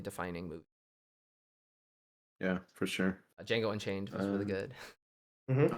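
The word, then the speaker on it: Django: Jango Unchained was really good. Mhm. Oh, yeah. Jeno the D is silent.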